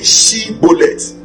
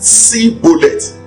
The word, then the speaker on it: Shibboleth: Instead of saying Shibboleth, they said Sibboleth, and they were condemned to death.